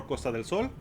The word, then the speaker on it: Costa del Sol: Costa del Soul. So, we'll be able to explore Costa del Sol because that's how it's properly pronounced.